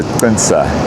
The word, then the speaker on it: Chintsa: So Sensa West is part of the Sensa area. Um it's officially spelled CH I N T SA. So, Flinsa is the closer pronunciation with a click and it is probably